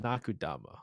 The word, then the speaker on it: Nakudama: Nakudama.